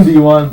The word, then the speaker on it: D'Ron: you get your name D1 that's how it's pronounced in English and French and uh yeah d1's name is actually D1 yeah it's just not spelled like that but honestly your